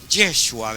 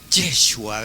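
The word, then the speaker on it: ישוע: En vocablo hebreo le decían Yeshua, ¿verdad? Porque así se pronuncia en el idioma que, hermanos, en el hebreo, legítimamente hablando, así le decían. Ahí va, decían Yeshua, ¿verdad?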